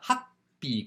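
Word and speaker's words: happi: what this is called it's called a hot be cold though sounds like a pea coat but happy ha she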